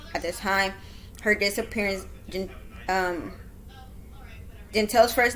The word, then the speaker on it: Jantely: Her disappearance, Janteyl's first name is pronounced Janteyl, but I'm just gonna call her Jay because that's one of her nicknames.